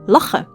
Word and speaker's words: lachen: mentioning first we have ch which is pronounced as a g sound like in the word l or if you're from Amsterdam L we also have SC